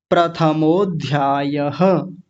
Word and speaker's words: प्रथमोध्यायः: तो उसको कैसे बोलेंगे? अथ प्रथमोध्यायः प्रथमोध्यायः ऐसे बोलेंगे। मैं थोड़ा और आसान कर देता हूं। प्रथमो ध्यायः प्रथमो को थोड़ा सा अलग कर लेंगे थोड़ी देर के लिए और ध्यायः इसको अलग कर लेंगे तो क्या बन जाएगा? प्रथमोध्यायः अध्यायः नहीं बोलेंगे क्योंकि अभी मिल गए